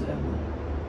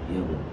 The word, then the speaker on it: ago: I came to Dubai 2 years ago. Ой, yes. Как произносится последнее слово правильно? Ago. Ago. Ego.